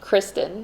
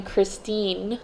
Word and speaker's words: Kristen: native Spanish speaker, and he could not pronounce the name Kristen because they don't have that I sound in Spanish. So he would only call me Christine, and I didn't really like being called Christine because that was just a mispronunciation of Kristen that I had dealt